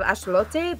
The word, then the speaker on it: axolotl: I know we've been pronouncing that creature wrong this whole time. I think it's something in the vein of axolote, but I'm definitely pronouncing that at least a little incorrectly. Yeah. But like less incorrectly than axolotl.